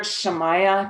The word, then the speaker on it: Shamaya: word shamaya Tantra so it's a tricky word it's spelled s h m a ya a so you've heard of Maya uh the illusion m a ya a you just put a a sha on the front of that shamaya Tantra and